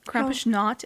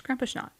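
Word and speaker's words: Krampusnacht: Krampishnot is spelled Krampus and then N A C H T. It's Krampishnot.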